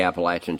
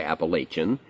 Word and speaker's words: Appalachian: And and Virginia, West Virginia, all all the Appalachian chain, which northern folks usually say Appalachian, but it's uh it's both.